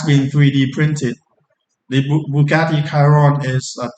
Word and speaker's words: Chiron: If it's strictly Italian would be pronounced Kiron, but I've seen people pronounce it Chiron or Chiron or Chiron.